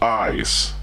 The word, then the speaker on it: Isz: Gone, a caped figure who perpetrates crimes on women with the help of small creatures called ISZ, eyes. I think it's pronounced eyes. That's right.